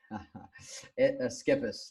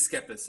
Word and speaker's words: Schepis: say screws me skippers just like it is skippers okay alright I swear I've heard somewhere it's pronounced like variations so yeah yeah